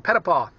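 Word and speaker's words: Petitpas: But PetitPaW quickly became PetitPaW. It's spelled P-E-T-I-T-P-A-S, but I gave up on it a long time ago and quite like the pronunciation of PetitPaW.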